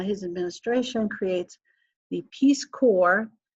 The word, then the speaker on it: Corps: administration creates the peace core notice that core is spelled c RPS I just want to